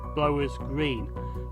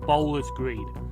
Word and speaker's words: Blowers Green: lie between dudley and blowers green now i've got to apologize to this video because i keep calling it bowlers green but the correct pronunciation is blowers green so i do apologize